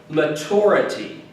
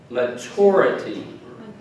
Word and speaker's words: maturity: the next word is maturity maturity maturity right the emphasis is on the t you are sometimes in